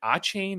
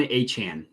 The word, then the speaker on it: Achane: I never know how to pronounce this. Every radio host says it. Is it Achane or it's Devon Achane?